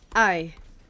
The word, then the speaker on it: Ai: I no offense, yeah, your name is I, and it's spelled A-I.